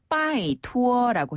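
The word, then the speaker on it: 拜托: 표현이 많지는 않아요 그런데 부탁할 때 간절히 요청할 때는 바이 투어라고 해요 바이 투어 한번 더 바이 투어 바이 투어 그렇죠 바이 투어 부탁드립니다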